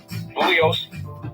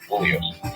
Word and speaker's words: Bugliosi: Bugliosi. The G is silent. There you go. Bugliosi.